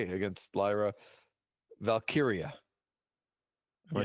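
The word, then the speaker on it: Valkyria: I don't really have much more to say against Lyra Valkyia.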